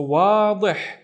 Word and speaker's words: واضح: Again, this letter is the heavier version of da. So واضح, and واضح means clear, واضح.